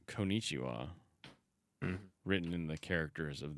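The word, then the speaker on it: こんにちは: Also, by the way, number 3 says Konnichiwa, written in the characters of the moon runes. Which is always funny because the last one is actually ha, like it's konnichiwa, but it's pronounced wa.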